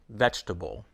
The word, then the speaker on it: vegetable: Vegetable, business, evening. In some words, the syllable is always dropped. For example, business, vegetable, every, evening.